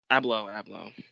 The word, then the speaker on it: Abloh: Is that pronounced it? Virgil Abloh. Abloh.